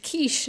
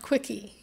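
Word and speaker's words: quiche: that and food writers no longer have to define kich or spell it or say kich not quickie that was a Bill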